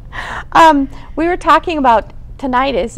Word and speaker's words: tinnitus: we were talking about tinnitus is that how you pronounce it tinnitus potato potato okay it's both ways um and I know